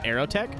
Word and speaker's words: Aeroteq: Also, it's pronounced Aeroteq, A-E-R-O.